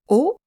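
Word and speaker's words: を: O with the wo is a particle that indicates the object of a sentence. The pronunciation is o.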